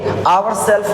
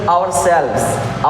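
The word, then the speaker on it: ourselves: pronounce it sales okay आवर सेल्फ नहीं आवर सेल्व आवर सेल्व okay himself himself okay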